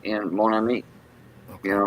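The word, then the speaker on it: mon ami: you say it again Monami Monami okay my friend you know like Mah but m o n but you don't you don't say the N Mo well you do it's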